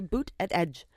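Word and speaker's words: Buttigieg: and said that Pete booted Edge I I will never be a boot at Edge that I literally have to say boot at Edge yeah just just to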